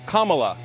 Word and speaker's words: Kamala: Her name is pronounced comma, like the punctuation mark la, Kamala.